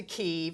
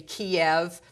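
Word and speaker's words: Kyiv: is the ukrainian pronunciation a lot of folks are going to say kiev that's russia that's russian that's also the chicken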